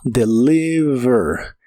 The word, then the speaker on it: deliver: Se pronuncia casi como está escrita, solo recuerda que la V de inglés es labiodental y vibrante. Suena como deliver. Deliver, y lo puedes usar